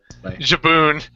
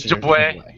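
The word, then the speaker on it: Jabouin: I've never figured out quite how to say his last name. Jabun. I think it's Jaboué. Yves Jaboué. I think this is going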